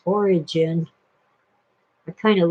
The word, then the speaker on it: Origen: Phil pronounced it Origen, but everybody else says Origin.